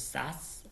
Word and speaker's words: SAS: And we pronounce it as SAS, not spelled out as the 3 letters in here.